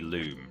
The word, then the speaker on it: Lum: I know that my Lum count is good I'm not quite sure why that it's pronounced Lum when surely it should be Loom cuz it's based on like the root word is like luminous BL lumos I can't